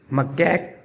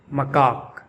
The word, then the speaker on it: macaque: Let's pronounce the name of this animal, Macaque or Macaque. You will hear both pronunciations used, Macaque or Macaque.